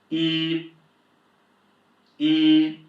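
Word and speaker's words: 一: first tone is high flat and whenever you see a "y" and an "i" in pinyin, you just pronounce it as "yi", so this is yī yī, high flat.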